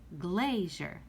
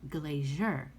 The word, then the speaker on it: glazier: for the word glazier we say glazier we do not say glacier that means that the first syllable is stressed so we would go